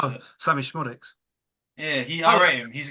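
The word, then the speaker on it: Szmodics: Dan Smodics. How do you pronounce it? Sammy Schmodics.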